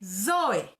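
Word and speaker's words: ζωή: palabra para vida que se escribe y se dice soy se escuchará no no no estoy hablando raro así se dice soy zeta y sobre la e van dos puntitos como los puntitos que se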